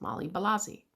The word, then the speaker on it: Molly Balazi: Her baptismal name was Marie Belagie, which Wabanakis pronounced Molly Balazi. White folks turned that into Molly Molasses.